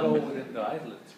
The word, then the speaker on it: islets: The islets. Okay. S is silent.